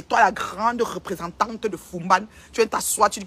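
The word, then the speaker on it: Foumban: Je prononce Fumban 1 million.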